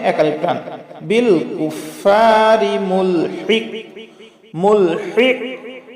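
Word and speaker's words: ملحق: এই যে এখানে কফ আছে, কলকলা হবে, তার পূর্বে হা আছে, বড় হা, এই জন্য গলার মধ্য থেকে আমরা হা উচ্চারণ করব হলকের মধ্য থেকে, আর কফ কলকলা করে প্রতিধ্বনি দেব, মুলহিক মুলহিক।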